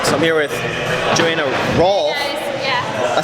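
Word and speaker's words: Rohlf: All right, so I'm here with Joanna Rolfe. Yeah. I say it right? Yeah, you said it right. It's spelled differently, R-O-H-L-F? H is Rolfe.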